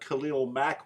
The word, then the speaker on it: Khalil Mack: I am about Khalil Mack, which rhymes with smack, and I expect him to put that on Luck.